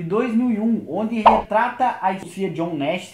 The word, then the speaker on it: John Nash: O filme Uma Mente Brilhante é lá de 2001, isso mesmo, de 2001, onde retrata a Sofia John Nash, é exatamente essa a pronúncia do nome dele, onde fala um pouco